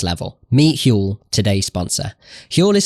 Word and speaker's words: Huel: to the next level meet hu today's sponsor hu is spelled hu L and is the complete global